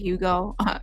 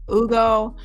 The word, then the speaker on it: Hugo: So, child, they're trying to cover their bases now because when Ugo, I keep forgetting, I think the H is silent. I've been saying Hugo. Ugo, he was arrested before for DUI earlier this year.